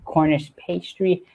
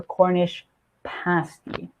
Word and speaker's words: Cornish pasty: And that is how you get a Cornish pasty. Now, I know I almost pronounce it as pastry. Just be careful, it's not a Cornish pastry, it's a Cornish pasty.